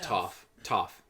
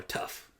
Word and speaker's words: Toph: They met Toph. They call her Tough. No, Toph.